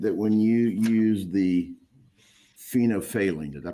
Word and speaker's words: phenolphthalein: You indicated that when you use the phenolphthalein, did I pronounce that right?